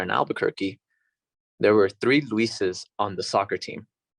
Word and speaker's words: Luis: because that's your identity and where your heritage and your family and those around you know you as, you pronounce it as Luis. Luis.